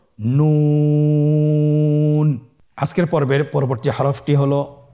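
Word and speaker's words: هاء: হ্যাঁ হা হরফটি উচ্চারণ ক্ষেত্রে অবশ্যই বারিক হবে এবং 1 আলিফ টেনে পড়তে হবে।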